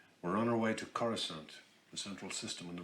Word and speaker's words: Coruscant: I'm used to saying Coruscant. All right. Not Coruscant. Coruscant. If you mispronounce it, it's okay. Try now.